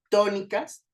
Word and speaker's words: tónicas: Vean cómo to suena más fuerte que el resto.